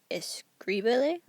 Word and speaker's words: escríbele: Now here we have escríbele una carta. So it's the same verb as before, so we know the accent will go on the I, because that's the next to last syllable.